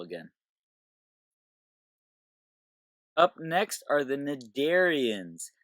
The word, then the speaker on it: cnidarian: up next are the mid Aryans the see is actually silent you don't pronounce it or anything it's just nod Aryans and the most common